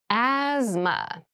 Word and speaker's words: asthma: deep cavity asthma asthma Asma so this word has very interesting spelling there's a th in